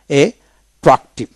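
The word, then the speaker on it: attractive: তারপরে আট্রাক্টিভ এট্রাক্টিভ আট্রাক্টিভ double ট্রাক্টিভ আমরা দুইটা উচ্চিত করি কিন্তু না এট্রাক্টিভ এটিভ তারপর এট্রাকশন এট্রাকশন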